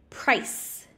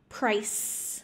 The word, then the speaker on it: price: and presio so precio price price so it's a sound like a snake price premium prize prize all